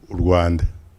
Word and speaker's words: Rwanda: Not only in Rwanda, by the way, when I say the country, I would say it as we pronounce it in Kinyarwanda. Rwanda. Rwanda or Rwanda, we cannot English sizes or French sizes, Rwanda.